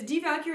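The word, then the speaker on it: Die Walküre: the wabbit this is devalucure is an opera again we have a word that starts with a w so it's pronounced like a v d cure this is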